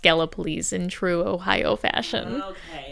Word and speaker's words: Gallipolis: And it's actually looks like it's pronounced Gallipolis. And it's but it's actually pronounced Gallipolis in true Ohio fashion.